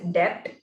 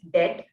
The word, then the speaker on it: debt: say buying gold and the word debt dbt was pronounced with the b that is depth which which should not be the case and should be pronounced dead with b as the silent letter and while starting to